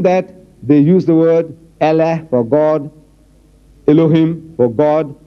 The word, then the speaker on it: Allah: I said, no man, how you spell, but you must pronounce the way we are asking you to pronounce our language. It is not Allah, it's Allah. Try. Allah, not Allah.